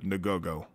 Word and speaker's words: Ngogo: it was about a particular group, the Ngogo. And it's spelled N-G-O-G-O, if you want to YouTube it.